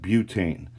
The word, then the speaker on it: butane: the two term butte it's not but we wouldn't have butt ain we would have butane um in fact there's